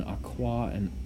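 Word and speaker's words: aquā: Then aqua is the aqua with a long A is the ablative.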